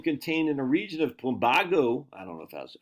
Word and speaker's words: Plumbago: I got to remind myself how to pronounce Plumbago. Sebago Lake, Plumbago.